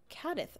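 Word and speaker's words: Cádiz: just the Brits though I know there's a regional Spanish accent that pronounces Zeds as th I did a Spanish class in uh cadis cadis and they pronounced it cadth oh interesting hello Terry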